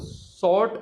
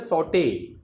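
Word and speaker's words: sauté: आजकल जो प्रोनाउंसिएशन है वो सॉर्ट बोलते हैं उसको, वो होता है सॉटे, वो टे का साउंड आता है उसमें।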